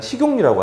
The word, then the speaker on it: 식용유: 무슨 말이냐면, 자, 일단 여기 이 용자도요, 원칙대로는요, 니은 첨가가 돼서 용으로 바뀌어야 돼요. 그 다음에 유자도 원칙대로 뉴 이렇게 돼야 돼요. 그런데 여기서 니은이 들어가게 되면 이 친구랑 만나서 기억이 뭐로 바뀌냐면 이응으로 바뀌죠. 이런 발음이 식용유가 되죠. 그런데 여기 보다시피 우리는 그냥 식용유라고 하잖아요. 그 이유는 뭐냐면 여기 원칙적으로는 니은이 들어가야 하지만 실제로 이 사이소리 현상은 이 수의적인 현상이기 때문에 이 자리에는 니은 첨가가 굳이 일어나지 않는다는 겁니다.